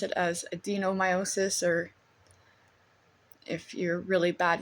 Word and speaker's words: adenomyosis: The disease is called Adenomyosis. I guess some people might mispronounce it as Adenomyosis, or if you're really bad with tongue twister